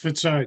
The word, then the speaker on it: Fitzai: It's pronounced Fitzai, Judge. How are you? Good morning. Say it again, sir. I'm sorry. Fitzai, F-I-T-Z-I is how you phonetically say it.